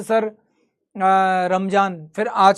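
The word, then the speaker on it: रमज़ान: नहीं sir, Ramadan जो word है, प्रोनाउंसिएशन है, वो अरब कंट्रीज में चलता है। इंडिया में प्रोनाउंसिएशन के अकॉर्डिंग जो शब्द है वो रमजान ही सही है।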